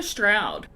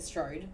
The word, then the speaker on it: Strode: you say stroud well they call her stroud oh i would have said strode yeah i say the whole time and then i heard you and i was like oh my god i've been saying it wrong the whole time well i've been saying it wrong and then i was watching the movie and they're calling her stroud and i was like what there's no you in that what the [